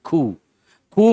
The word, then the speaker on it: coup: coup make a note the letter p is silent how do you pronounce this C who means what usually it